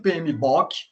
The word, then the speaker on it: PMBOK: né, o PMBOK, né, tem muita gente que fala que é PMBOK, é BOK, né, a pronúncia. Depois a gente vai ver que é um acrônimo, na verdade, esse é um acrônimo, não tem nada a ver com book de livro.